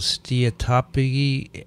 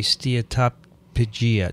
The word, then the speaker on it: steatopygia: In women, this is called steatopygia, a.k.a. steatopygia. Do you pronounce the P as hard?